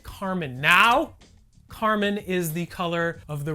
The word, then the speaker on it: Carmine: living in Portland that it's pronounced Carmine and not Carmine.